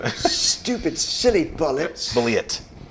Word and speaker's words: Bulleit: vote for you uh now we're going for Bullet bourbon which is very common staple but isn't it spelled like bite yes it is weird like why